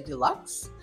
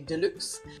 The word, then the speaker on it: deluxe: wave Deluxe Deluxe Deluxe do you say Deluxe I think Americans say Deluxe um we pronounce it the French way and say Deluxe now the fibers are